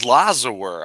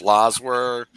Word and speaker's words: Lazar: in your face and i always thought his name was laza were i i didn't know how to say his name is lazar anybody who ever sees